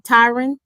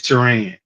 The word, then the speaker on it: Teran: what are some um am I pronouncing your name correctly Tyron it's Teran Teran okay Teran Teran what